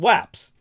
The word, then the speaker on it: UAPs: of course now they're called waps rhymes with Japs uaps um so these